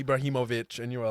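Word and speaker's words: Ibrahimović: Ibrahimovic is what I said. Ibrahimovic. I am Ibrahimovic. That part they got right. Especially the him part.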